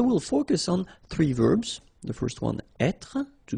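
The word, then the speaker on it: vert: Feminine rou remember Rouge ver so masculine form you don't pronounce the final ver feminine form ver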